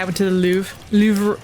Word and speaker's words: Louvre: Louvre. It's like spelled like L-O-V-R-E, Yeah. which always confuses me.